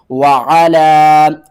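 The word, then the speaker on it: وَعَلَىٰ: وعلا، واو زبر وا، عین زبر آ، وعا، لام مد کھڑا زبر لا، وعلا. اس لام کو ہم نے 3 الف کے برابر اب کھینچنا ہے.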